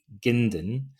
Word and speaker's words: Gindin: My name is Donald Robertson and today's guest is Matthew Gindin. Did I pronounce that right?